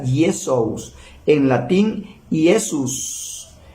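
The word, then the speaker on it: Iesus: y se escribe diferente Joshua en arameo griego se dice y esos y en latín yesus en español Jesús el señor Jesús habló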